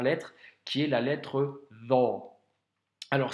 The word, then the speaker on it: ظ: Donc aujourd'hui, on va voir la dernière lettre qui est la lettre Dha. Alors c'est une lettre que l'on doit prononcer aussi avec emphase.